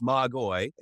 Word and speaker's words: magoi: So in the Greek, it's magoi. When I say English, I